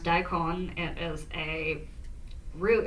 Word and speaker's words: daikon: And I would go, well, in Japanese, it's pronounced daikon.